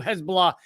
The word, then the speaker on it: Hezbollah: By the way, Hezbollah, by most of the world's countries, most of the world's governments do not view Hezbollah as or Hezbollah, I guess, to pronounce it correctly, as a terrorist organization.